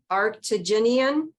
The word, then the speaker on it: arctigenin: Because I'm going to have to spell it. ARCTIGENIN. Arctigenian.